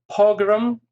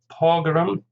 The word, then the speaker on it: pogrom: Pogrom, stress on the first syllable, 2 syllables obviously, pogrom.